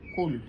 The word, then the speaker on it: قل: You close your mouth a little bit, it will be round. Then you say qo, as if it's a K and an O or a U. Qu. Qul. The lam has sukoon, has something that you silent the letter. Qul. You don't move the letter.